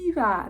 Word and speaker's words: Eva: Okay, so my name is Eva, and if you've ever seen the Wall-E movie, Eva, that's how you pronounce my name. But I hear a lot of Evas and Evas as well. But it's just fun to say, oh, have you heard of Wall-E? That's how you pronounce it.